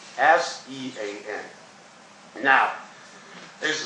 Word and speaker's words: Sean: the name capital s s e a n now there's a spell s-e-a-m based on Phonics the name should be pronounced scene or Ascend but in reality it is pronounced Sean with a long or